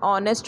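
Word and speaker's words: honest: We also right an ऑनेस्ट मैन, हम लोग ये भी लिखते हैं कि एन ऑनेस्ट मैन। अब ऑनेस्ट में एच तो कॉन्सोनेंट से शुरू हो रहा है, जबकि एन हम लोग वॉवेल के पहले लगाते हैं।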